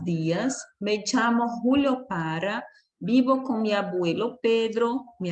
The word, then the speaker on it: vivo: Falou, vivo, o V com som de B quer dizer, né? Vivo, ou eu moro, vivo.